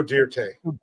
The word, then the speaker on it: Dirte: It's not Joe Dirt. It's Joe Dirte.